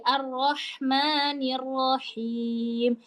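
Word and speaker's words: الرَّحْمَٰنِ الرَّحِيمِ: Oke, ayat ketiga di surah Al-Fatihah di Arrahmanirrahim. Ini sama seperti di basmalah ada ya, Arro. Tapi jangan ngomongnya arro arro. Ingat a tetap tipis. A a arro arroya tebal.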